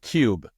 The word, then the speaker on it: Qube: There's a indie studio game called Cube, and it's spelled Qube with a period for each letter.